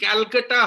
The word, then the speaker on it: Calcutta: Yes, it is the Calcutta High Court. The pronunciation is still CALCUTTA at Kolkata.